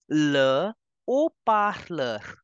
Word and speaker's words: haut-parleur: You know the rule very well that H is a silent vowel. So we have to start the pronunciation from the next alphabet. In the end, it is ending with T. So it has to be silent.